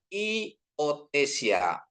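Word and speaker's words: υιοθεσία: ya terus kata kedua ya epsilon ketemu iota bacanya jadi i ya seperti Iyo, ini kan apanya artikelnya iotesia.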